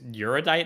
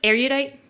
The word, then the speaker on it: erudite: __ ] you is uradite in it oh it is nevermind shut up okay yikes all right welcome also it's erudite you pronounce it very strangely that's cause it's a